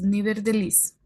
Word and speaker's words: nevertheless: La TH siempre se va a pronunciar como una D en español. Entonces, nevertheless.